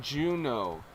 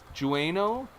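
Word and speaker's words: Jeuno: You have to go to a city called Juno. Jueno. It's It's spelled with like a J U.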